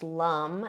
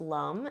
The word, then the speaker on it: Lam: So the seed sound of the root chakra, for anybody who's wondering, is lum, and it's spelled Lam, but it is pronounced lum.